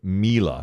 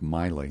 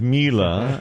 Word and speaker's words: Miele: that's an upgrade from a Whirlpool is called Miele. It's Miele, but it's pronounced Miele, and I had never heard of that.